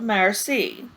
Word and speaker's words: merci: thank you in French you say it like this ah merci Pierre look ponder think hard